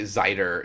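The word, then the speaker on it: Xaiter: of Isaac let's play I want to say zider is how you pronounce it but it's X AI t e r mhm one of those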